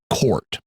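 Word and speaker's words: CORT: The Reincarnation type or c-o-r-t which is pronounced court and this is a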